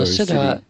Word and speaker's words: Siddhi: he's some people pronounce it Siddha, and you pronounced it Siddha. Well, Siddhi.